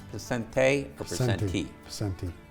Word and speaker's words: Picente: United County Executive Anthony Picente is it pronounced Picente or Picente? Picente.